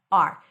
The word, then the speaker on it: our: The word hour is rarely pronounced as hour. It's usually pronounced as just the letter R. R. This is our place. Welcome. This is our place. Now, this is how you pronounce it when it's unstressed. If it's stressed, it's going to be pronounced as our.